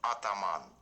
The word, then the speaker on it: Ataman: rustam from ottoman and the correct pronunciation of our brand name is ataman i hope you enjoyed